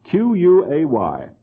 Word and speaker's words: quay: Q-U-A-Y.